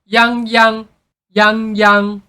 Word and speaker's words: Yangyang: like Yang Yang but you have to pronounce it as Yang but with higher pitch so it's going to sounds like yangy yangy yangyang Yang literally mean